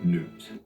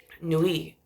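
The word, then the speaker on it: Nuit: Egypt this guy was personified by the goddess Newt no I learned just recently Nui um n-u-i-t it's exactly how the Egyptians pronounce newt I think is um or actually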